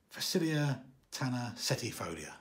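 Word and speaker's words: Phacelia tanacetifolia: is a good way forward felicia i can't pronounce that tana setifolia facilia tanner setifolia there we go got there eventually uh these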